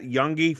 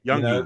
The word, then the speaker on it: Youngy: We don't we kind of you guys always sort of put the G in there, Youngy, the Youngy, and it's like it's just Youngy, but Youngy.